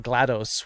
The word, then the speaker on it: GLaDOS: sounds like something that glados would do oh rhymes with dough yep ooh yeah yeah